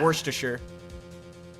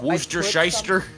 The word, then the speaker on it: Worcestershire: wor to sure I'm pretty sure it's Worcestershire worshire okay I pronounced it the way Shrek did in the movie Shrek he said oh yeah wor to sure but it might not be correct cuz granted